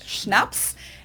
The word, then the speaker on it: Schnaps: In German, we spell it like this and say Schnaps, and it means hard liquor.